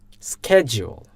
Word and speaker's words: schedule: going that all plans according to American accent they used to pronounce in this way schedule can you hear that I'm repeating Norris schedule they used to stress on the first part of the world schedule schedule okay I